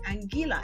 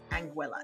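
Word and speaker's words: Anguilla: a lot too because a lot of people tend to say angila and I get it it's the way that the island name is spelled but the locals call it anguila so if the locals who live there call it anguela then I think we should all call it angua right right okay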